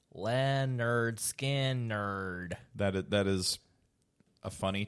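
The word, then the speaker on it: Lynyrd Skynyrd: song what anything from leonard skinner pronounced land nerd skin nerd that that is a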